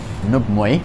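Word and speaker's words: 五枚: She trained under the Shaolin nun Nubmui. That's the Cantonese pronunciation.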